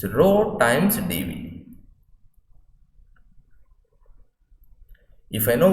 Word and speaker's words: rho: The ratio of dQ by dV we represent as rho, so it's pronounced as rho, RHO.